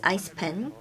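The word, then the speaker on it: ICPEN: we have icpn or the international consumer protection and enforcement Network it's also uh pronounced as ice pen we take part in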